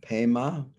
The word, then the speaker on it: Padma: name is padma sambhava padma is lotus the tibetans pronounce padma as pema sambaba is born then